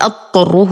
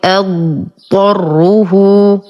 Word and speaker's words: أضطره: حرف الضاد ثم الطاء، لا ندغم الضاد في الطاء فلا نقول أضطره، وهذا خطأ. حرف الضاد لا يقلقل لا يهمس لا يدغم بغيره، نقرأ الضاد أولا ثم الطاء فنقول أضطره.